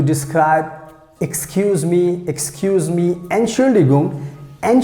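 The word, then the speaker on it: Entschuldigung: use to to describe excuse me excuse me and surely gum and chuligum so that's how you have to pronounce i hope you understand everything and now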